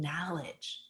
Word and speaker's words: knowledge: and then we gain knowledge the k is silent we gain knowledge and we be then